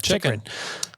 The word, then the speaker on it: Chychrun: Chychrun.